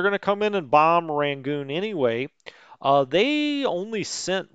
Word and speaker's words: Rangoon: Now, see, I know how to pronounce Rangoon because of Crab Rangoon, obviously.